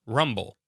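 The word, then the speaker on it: RMBL: Mountain biological rat laboratory RM BL pronounced rumble so in 1928 the same year they made the film about Garwood Judd gothic was purchased by dr.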